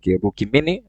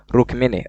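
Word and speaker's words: Rukmini: Now and also Krishna had other consults like Rukimi. Is that okay? What? What? Rukini. Rrookini.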